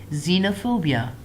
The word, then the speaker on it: xenophobia: If it is used at the beginning of the word, then we pronounce Z.